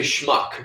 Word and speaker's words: schmuck: Yeah, you said schmuck on the EP. Like, yeah, on Rabbit Hole. And sometimes people suck. Say schmuck to rhyme with suck, I think.